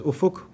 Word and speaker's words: Ufuk: How do you say your name? Okay. Look, I've been called plenty of things in my whole career, so it really doesn't bother me. My name is Ufuk.